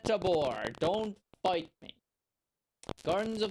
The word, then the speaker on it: Tabor: Maybe that's why it's called Taber because it's supposed to rhyme with labor. I'm still going to call it Tabore.